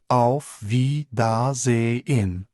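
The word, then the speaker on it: Wiedersehen: Telaffuzu biraz uzun gelebilir. V da ze in ama bir arkadaşınıza hadi ben kaçtım der gibi vedalaşırken en çok duyacağınız kelime çüz.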